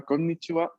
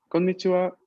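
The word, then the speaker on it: こんにちは: Pero atención que aquí tenemos una doble N, una doble N. Por lo tanto, no es konnichiwa, sino konnichiwa, konnichiwa. A ver, prueben ustedes. Konnichiwa.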